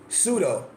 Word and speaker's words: pseudo: Now, now I'm going to teach you pseudo. You might be trying to spell it phonetic phonetically, but it's spelled with a P.